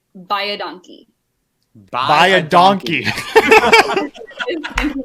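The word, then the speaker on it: baie dankie: very much," and it's "buy a donkey." Buy a donkey. Thank you very much. Go buy a donkey, okay? Spelled very, very different, but pronounced exactly the same.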